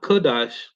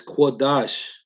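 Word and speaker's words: קדוש: from time to time the Hebrew word is qurash not kadash it's not kadash it's quadash you gotta start saying it right I'm just throwing it out there it's quadash not kadosh it doesn't sound how it's spelled quad Dash not kadash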